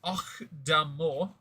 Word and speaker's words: Octomore: It's pronounced Octomore.